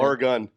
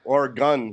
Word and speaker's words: Oregon: Oregon. I said, so now I know how to say it. Oregon State.